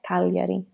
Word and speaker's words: Cagliari: Cagliari.